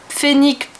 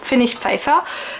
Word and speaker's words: Pfennigpfeiffer: achats chez Fenix fire j'essaye de le prononcer bien l'allemand je pense que si je le prononcer en français ça ferait phénique Phoenix Phoenix Féfé Phoenix Féfé voilà mais non je le prononce à la demande donc Fenix FIFA j'ai fait